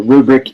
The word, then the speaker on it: RuBrick: up with the name RuBrick? So that is the first 2 letters of my last name. So Ru, R-U, and the brick makes sense. So RuBrick, and because it sounds like a grading rubric.